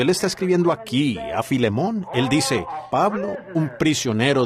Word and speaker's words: Filemón: la falta de Educación Así que Filemón dijo alguien allá atrás lo cual creo que es la pronunciación correcta Ahora el